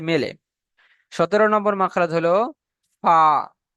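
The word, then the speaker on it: ف: তাহলে ফার মাখরাজ হলো ফা। আপনি যখন সঠিকভাবে উচ্চারণ করতে পারবেন, আপনি মনে না থাকলেও যদি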